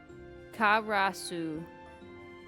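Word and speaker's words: からす: How to pronounce that pronunciation? Karasu.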